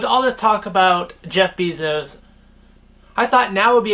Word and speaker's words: Bezos: bezos thank you google says i should be pronouncing it bezos not pieces even though it is an e anyways bezos